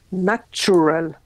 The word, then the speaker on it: natural: any questions okay then the first word I mean is natural it's not like nature okay it's natural if I said something's